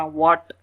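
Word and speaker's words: what: इस तरह व्हाट, एच यहाँ पर भी साइलेंट, डब्ल्यू की भी आ रही है, ए और टी की आ रही है, वाई।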